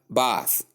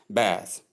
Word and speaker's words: bath: In the UK pronunciation that is British English uh we have bath long a sound but in the US English that is American English we have bath that is short a sound.